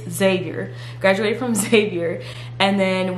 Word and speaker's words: Xavier: then I went to zavier University so I'm a Xavier University Alum and yes that's how you say it's not Xavier it's Xavier graduated from Xavier and